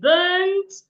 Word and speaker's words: burnt: But of course, that is wrong because these words here do not have the same length. So the right thing to say is, Sir Ben bent and burnt the bird on the bed.